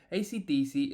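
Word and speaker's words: AC/DC: performances of their music ACDC is pronounced one letter at a time while the band that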